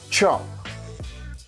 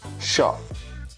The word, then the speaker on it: shop: Spanish speakers tend to say these words. This sound here, SH. In English, it's sh, sh, sh. But Spanish speakers say choose, shower, chop. The correct way to say it is sh, sh, shoes, shower, shop, shoes, shower, shop. So remember, it's not a ch, ch. That's different. That's two different letters.